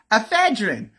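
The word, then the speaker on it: ephedrine: Propal, laorazzipam, madazzipan, lanocane, ephine, ephedrin, ephedrin.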